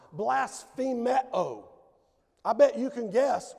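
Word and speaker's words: βλασφημέω: There's the Greek word for reviled, and it's pronounced blasphemeo.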